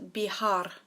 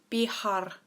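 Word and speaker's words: viajar: the verb trouble is Bihar so the V is pronounced with a B and the J is like a hage sound so Bihar now try and say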